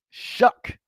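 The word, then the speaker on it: Shough: and notes section, but Tyler Shaw Shuck, uh for those people that want the cinjun pronunciation of the New Orleans Saints quarterback, he has been named the starter going forward for now.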